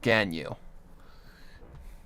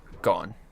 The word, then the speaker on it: Ganyu: Instead of an O, it's spelled with an A. So it's like Ganyu. Rather than Gon. But the A is Ah, so yeah.